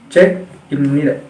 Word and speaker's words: 책입니다: Jadi si giok ini dibaca huruf tengah.